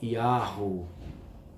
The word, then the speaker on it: Yahweh: que está lá as 4 letras hebraicas, Yod, He, Vav, He, que a sua pronúncia é Yahweh.